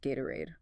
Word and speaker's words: Gatorade: Think Doritos, Cheetos, Gatorade. The T is between vowels, so it flaps. Doritos, Cheetos, Gatorade.